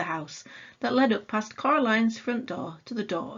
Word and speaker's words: Coraline: wrong you know they kept saying coraline not caroline not caroline at all he picked up a